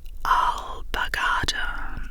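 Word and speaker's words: alpargata: The word is pronounced alagada with the stress on the third syllable.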